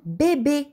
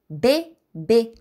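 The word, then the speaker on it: bébé: на тези три думички а бебе изговаряме отворено е бе бе защото има ударение бебе н теле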